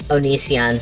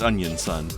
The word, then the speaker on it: Onision: But there's going to be a lot more Onisions in the military these days. Oh yeah. Unfortunately, Sorry, my mistake. We're pronouncing it wrong. It's Onion Son.